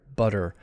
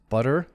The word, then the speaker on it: butter: So here, butter. So notice the difference in the length of the syllables. Butter. The first syllable is a regular length, butter, and the second one is very short.